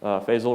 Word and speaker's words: Faisal: Faisal rhymes with Basil.